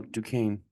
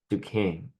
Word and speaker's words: Duquesne: Um, how did you pronounce that school's name again? That played VCU today. Oh, Duquesne. Duquesne.